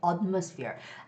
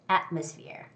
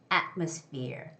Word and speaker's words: atmosphere: decorate decorate okay and the word atmosphere has the first syllable stress so it shouldn't be atmosphere i hear some students say atmosphere it's not uh it's at it's atmosphere atmosphere atmosphere and again the